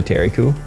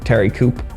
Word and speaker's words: Thierry Coup: is a reference to Terry coup um and also if you pronounce it Terry Coupe uh it sounds like the scoop so could be either